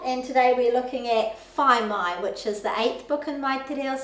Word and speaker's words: whai mai: to pronounce phi mai because the a i rhymes with kai and everyone knows how to pronounce kai as in food so if you ever